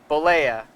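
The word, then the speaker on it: Bollea: Bolea.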